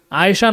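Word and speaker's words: عائشة: কারণ লাস্টে যে গোলতাটা থাকে এটা আমরা এমনিতে উচ্চারণ করার সময়, মুখস্থ করার সময় অবশ্যই মুখস্থ করব, কিন্তু দেখা গেছে যে সংক্ষিপ্ততার জন্য বলতে গেলে লাস্টের এই গোলতাটাকে হা হিসাবে উচ্চারণ করে এভাবে পড়া হয় যে আয়েশাতুন, আয়েশা।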